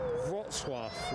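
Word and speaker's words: Wrocław: Yeah, cuz the other one that I used to trip up with was Rotswaf, which doesn't look like that on a page either.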